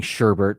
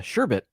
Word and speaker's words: sherbet: sherbert which a lot i grew up saying sherbert but i do know it is uh sherbet without an r at the end thank you mar that's